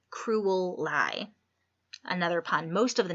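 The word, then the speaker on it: Crewel Lye: out pretty much since cruel lie which incidentally is spelled CR e WL ly e cruel lie another pond most of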